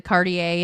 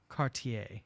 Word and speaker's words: Cartier: then she goes to cardier in Paris and then she goes uh to R and I would like to correct myself I think I said cardier but I believe it's pronounced Cartier Cartier yes H and then